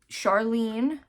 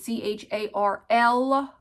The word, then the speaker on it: Charline: Charlene is my actual name, but it's spelt, of course she did me dirty, and she spelled it C-H-A-R-L-I-N-E instead of E-N-E. So my whole life I've been called everything but my name.